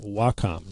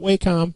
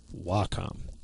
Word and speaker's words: Wacom: And yes, it is pronounced Wacom, not WHCOM, not Wacom. Most definitely Wacom, and they make awesome products.